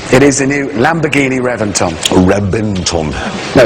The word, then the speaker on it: Reventon: a v Reventon no I know it's spelled with a V but it's pronounced with a B why I don't know they've told us it's B Renton anyway it has a